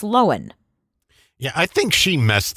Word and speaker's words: Lohan: By the way, my name is pronounced Lohan.